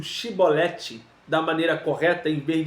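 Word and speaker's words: שיבולת: que chibolete está nos mostrando que quando eu pronuncio chibolete da maneira correta em vez de si eu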